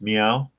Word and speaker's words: MEAWW: I guess it's pronounced meow, kind of like a cat.